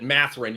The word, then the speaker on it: Mathurin: let me go to the next one Benedict mathurin how do you pronounce that name you basically nailed it mathrin you like put the focus on the beginning of the name yeah okay Benedict mathrin